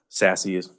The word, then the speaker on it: SASE: And instead of layering services that require separate configuration and management, SASE that's how you pronounce it if you ever want to pronounce it. It's fun to say, SASE.